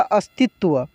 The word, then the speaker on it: अस्तित्व: और यहाँ पे त और व है, ये देख सकते हैं त और व संयुक्त है, तो त्व पढ़ते हैं, तवा नहीं पढ़ेंगे, इसको क्या पढ़ेंगे, त्व। तो ये क्या हुआ, अस्तित्व।